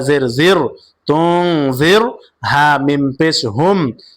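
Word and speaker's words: تُنذِرْهُمْ: কারণ এই রয়ের উপরে আমরা দেখতে পাচ্ছি সাকিন, র সাকিন, তুং জির হুম, জির হুম।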